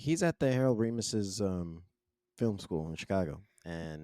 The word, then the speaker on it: Ramis: It is Ramis. It's It is Ramus. Ramis. Okay. Then me and my black friends have been pronouncing it wrong for a Yeah.